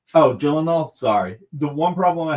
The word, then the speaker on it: Gyllenhaal: so the one problem I have with the Gillan Thal movie is jenal you keep saying it wrong oh Gyllenhaal sorry the one problem I have with the